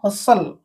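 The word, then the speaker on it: hustle: हो तापरे स हस टी को साइलेंट हसल हसल हसल रो अर्थ द्रुत काम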